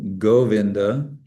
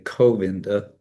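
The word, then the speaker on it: Govinda: One is c is more hard and g is softer. So goinda we say goinda we don't say coinda um but we say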